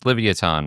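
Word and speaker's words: Livyatan: And then I looked it up and I was like, "No, these are that's actually how this is pronounced. It's Livoton, which is basically a gigantic sperm whale with razor sharp teeth that's apparently hunting the megalodon."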